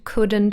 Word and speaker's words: couldn't: verbs with silent letters would could should the l is silent in all three so wouldn't couldn't shouldn't also have a